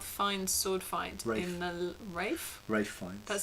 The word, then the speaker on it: Ralph: Yeah, it's spelt Ralph, but it's said Rafe because he's quite posh. If it's spelt Ralph, it's Ralph. No, if you're posh enough, you can decide how your name's pronounced.